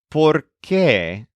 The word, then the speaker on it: por qué: The noun por qué is spelled exactly like the conjunction porque, which means because, except that this noun has an accent on the E at the end. So it's pronounced differently.